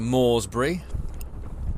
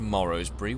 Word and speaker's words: Moresbury: as we go into Moresbury. Because it just wouldn't be pronounced Morrowsbury, would it?